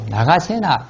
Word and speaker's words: 나가세나: 나선 비구, 나가세나, 그 나라 발음 나가세나 스님이라고 합니다.